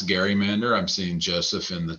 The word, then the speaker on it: gerrymander: which i should pronounce garrymander i'm seeing joseph in the chat is saying the correct pronunciation is garrymander and that is right